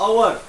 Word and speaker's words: hour: यहाँ पर भी हम लोग एन लिख रहे हैं, इसकी भी पहली स्पेलिंग एच है, लेकिन जो आवाज है बच्चों वो वावेल साउंड है।